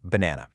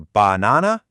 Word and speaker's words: banana: Think about the word banana. We don't say banana or banana. We say banana. See that? That little bit of extra energy on that middle syllable, that's the stress.